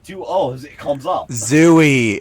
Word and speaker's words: Zooey: o's it comes up zooey it's zooey yeah it's it's definitely a zooey hey deschanel her parents said that she's named after the book jd salinger says it's pronounced zoe so why the [